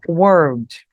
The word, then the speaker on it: word: palavra, e tem o word. Como eu vou diferenciar uma da outra? Word, palavra, ela é mais sequinha, ó, word. E eu, mundo, né? Word. Eu vou pronunciar um L no meio.